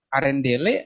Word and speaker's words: Arendelle: Dari Queen Elsa of ini bacanya apa ya? Arendelle.